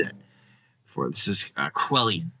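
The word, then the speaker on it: Cuilén: We're going to find out how to pronounce that name because I cannot figure it out. Culain. And all these names. Quellian.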